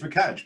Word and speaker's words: McAnsh: And today we are joined by McAnsh. Is that pronounced properly? It's McAnsh, but to be honest with you, I'll get called anything.